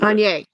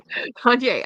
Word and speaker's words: Kanye: Kanye. Okay. Kanye.